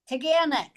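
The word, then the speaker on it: Taughannock: Say it again. Tanic. See, I butchered it. Tanic. I never would have thought that was a hard G.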